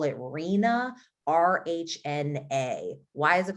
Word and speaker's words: RHNA: housing system by housing nerds we call it reena rhna why is it called marina i have no idea but you pronounce rhna as asrina and this is this